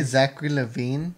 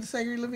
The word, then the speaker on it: Zachary Levi: Zachary Levi, so awesome. He was Did he hilarious. just say Zachary Levine? Did I just say Zachary Levi?